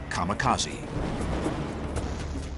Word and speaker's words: kamikaze: They called it divine wind, which in Japanese is pronounced kamikaze.